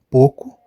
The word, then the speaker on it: pouco: português falado veremos que o ou pronuncia-se apenas o pouco roupa louro o que temos nesse